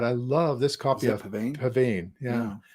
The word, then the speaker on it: pavane: love this copy of Pavane. Yeah. Pavan, I think it's actually the pronunciation because it's a dance and and a medieval dance.